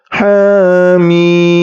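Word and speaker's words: حم: ha dan huruf mim huruf ha panjangnya dua harakat EMP wajib dan mim itu panjangnya 6 harakat madladzi mukhafaf Harfi ingat panjangnya en harakat Jadi huruf ha terdiri dari ha dan Alif kemudian mim terdiri dari huruf mim kasrah Ya Sukun dan mim sukun cara membacanya ha mim ha kemudian huruf th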